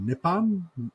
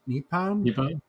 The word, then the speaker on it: Nippon: you know uh the I think it's pronounced nippon nippon nippon steel you know that in